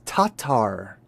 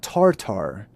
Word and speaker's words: Tatar: So the entire word is tatar. Tatar. So the tatars. Interesting. So it's not tartar.